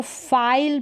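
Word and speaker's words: file: last में ई और यहां पर यह जो ई है वह साइलेंट रहेगा और यह जो आई है इसका उच्चारण लॉन्ग होगा ठीक है इसको फाइल पढ़ेंगे फाइल यानी ये जो आई है ना इसका उच्चारण आई ये होगा फाइल क्या पढ़ेंगे फाइल फिर यहां पर है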